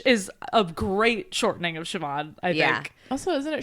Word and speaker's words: Siobhan: And so Jerry is actually Siobhan's godmother in the show.